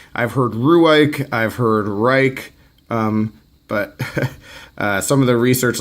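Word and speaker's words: Rike: heard Rui I've heard Reich but some of the research like I said I looked some stuff up and I heard that it is supposed to be pronounced rake and regardless what it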